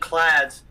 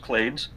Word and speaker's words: clades: so different kind and clads is a common ancestor for everything but times limit their common ancestry - no no you know in neither case it's actually pretty it's pronounced clades okay clade includes all